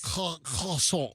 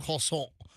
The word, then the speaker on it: croissant: Yeah, you like Croissant. swallow your R. Croissant. Right? That's it's a very French way to say Yes.